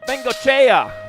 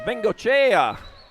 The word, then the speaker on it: Bengoechea: Oh, Bengoechea. That's what it is. Bengoechea. Yeah, I learned how to pronounce that earlier this year. Yeah, Bengoechea.